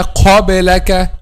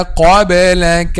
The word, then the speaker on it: قبلك: So وما أرسلنا قبلك, not وما أرسلنا قبلك. No, don't make an excessive ear while pronouncing the letter that has the quality of al-hams.